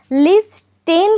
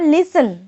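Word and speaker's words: listen: তোমাদেরকে এখানে বলে রাখি লিস্ট টেন কথাটা উচ্চারণ কখনোই করবে না লিসেন লিসেন এখানে স্পেলিংটা তোমরা হয়তো দেখতে পাচ্ছ এল আই এস টি ই এন তোমরা বলতে পারো লিস্টেন কিন্তু না এটা কিন্তু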